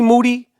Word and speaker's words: Moody: Moody, whose last name rhymes with duty, if you see him